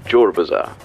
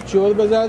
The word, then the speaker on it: Chor Bazaar: It was once called Shor Bazaar. But the English couldn't pronounce Shor, so it became Chor Bazaar.